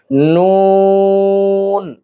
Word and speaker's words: ن: নুন এটিউচ্চার উচ্চারণ করতে হলে আমাদেরকে জিহ্বার আগার কিনারা উপরের তালুর সঙ্গে লাগাতে হবে। উপরের তালুর সঙ্গে লাগিয়ে উচ্চারণ করতে হবে। যেমন আমরা উচ্চারণ করি নুন নুন নুন।